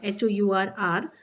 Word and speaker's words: hour: Here you can see an R, HOUR, R में H silent होगा, and honest man इसमें भी H silent होगा, an honorable man here also H is silent, etc.